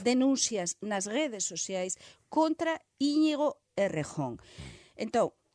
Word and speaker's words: Íñigo Errejón: É saber e se manifestar públicamente que o Íñigo Errejón, que Íñigo Errejón, o pronuncia española, que era o portavoz de Sumar